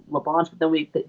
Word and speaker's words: Labonte: He said, is your last name actually pronounced Labonte? And so he was like, yeah, my parents are from such and such and such, and it is Labonte.